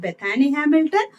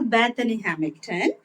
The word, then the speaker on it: Bethany Hamilton: You can pronounce it Bethany Hamilton or Bethany Hamilton.